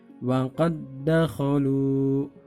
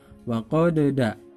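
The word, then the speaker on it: وَقَد دَّخَلُوا: Contoh bacanya adalah wa qad dakhalu, wa qad dakhalu. Nah, seperti itu. Bukan dibaca wa qadda, tapi wa qad dakhalu, dan seterusnya.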